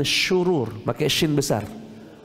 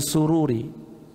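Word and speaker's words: شرور: dari keburukan jiwa kami hati-hati pak bacanya yang betul Min syurur Kami sering dengar Min sururi syurur maka Shin itu artinya Ya Allah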